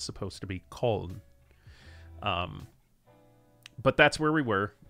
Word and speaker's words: Köln: I'm going to attempt to pronounce this how it's quote-unquote supposed to be pronounced, and not necessarily the American English way. We were in Köln for a couple hours. The American English speaking population calls it Cologne.